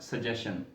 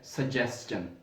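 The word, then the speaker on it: suggestion: But this word is नॉट सजेशन, ये लफ्ज है सजेस्टन। आगे जो स्लैशेस के अंदर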